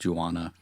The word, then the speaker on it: Juana: I don't know that they ever say her name in the film, but it is listed in the credits as Juana. It's like marijuana, except without the Mary.